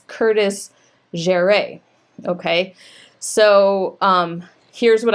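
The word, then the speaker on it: Jeré: And I know enough from my high school French that an accent on the E is going to change the pronunciation of that. And so they, according to first dibs, it's Curtis Jere.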